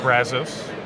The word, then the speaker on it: Brazos: Hopefully I pronounced the river right. The Brazos.